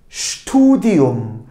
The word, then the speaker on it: Studium: Peki S ve T harflerini bir arada gördüğümde bu şt şt şeklinde telaffuz ediliyor. Şt studium studium bu yüksek öğrenim yani üniversite eğitimi anlamına geliyor.